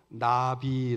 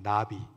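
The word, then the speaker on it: נביא: 하나님의 말씀을 대언하는 사람입니다 히브리어로 나비 라고 합니다 나비 나비 나비 날아다니는 나비고 발음이 똑같죠 그 나비가 히브리어로 선지자라는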